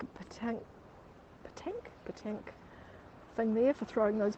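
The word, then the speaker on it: pétanque: Look like a petanque thing there for throwing those big silver balls around.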